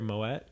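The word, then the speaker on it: Moët: leave and they're drinking how's it pronounced my way or moet the champagne oh yeah my way they're drinking my way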